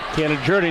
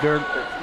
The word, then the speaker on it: Gilligard: Gilligard, not Gerd.